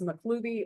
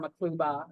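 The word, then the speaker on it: Maqluba: It's either pronounced Maklubi or Makluba, and neither way is incorrect.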